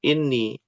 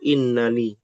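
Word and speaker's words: إني: Aslinya adalah inna ana. Ketika bergabung, maka memiliki hukum ataupun cara bacanya menjadi inni. Ada dua sebenarnya, inni atau innani. Artinya sama. Inni dan innani.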